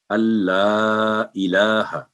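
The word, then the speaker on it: أن لا إله: तो जब नून साकिन के बाद आगे लाम पर तशदीद आ जाए तो नून बिल्कुल साइलेंट हो जाएगा, अलिफ का इदगाम होगा लाम के साथ बिला गुन्ना, यानी गुन्ना नहीं होगा। अल्लाह, totally Noon silent, Allah 3 to 4 second, इलाहा, तो अशहदु अल्ला इलाहा नहीं पढ़ना, अशहदु अल्ला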